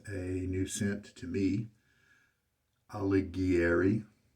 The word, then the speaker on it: Alighieri: new scent to me alighieri is how i'm going to pronounce it is my best guess it is sterling's seasonal